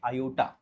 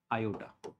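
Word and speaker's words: iota: युज करायला सुरुवात केली याचं नाव आहे आयोटा आयोटा ओके याचं प्रोनन्सशन ठीक आहे तर पहा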